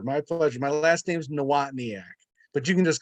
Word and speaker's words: Nawotniak: My last name's Nawotniak, but you can just call me.